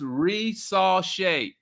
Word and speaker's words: Risacher: my guy o Oscar is pronounce re saw shet I pronounce it incorrectly on purpose Oscar yeah I know